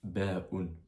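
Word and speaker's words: ب: C'est l'équivalent du B en français mais ça se prononce ba parce que faut savoir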